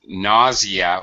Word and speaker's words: nausea: And for some reason, nausea, we use a Z sound.